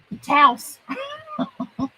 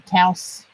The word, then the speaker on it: Taos: We're going to use this, the Taos, like I used to say, but it supposedly rhymes with blouse. So we're going to call it Taos Sunset.